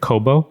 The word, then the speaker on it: Kōbo: bring us up to speed on taku and Kobo is that am I pronouncing yeah okay yeah tell us about taku